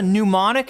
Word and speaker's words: mnemonic: Do you know what a mnemonic is, chat?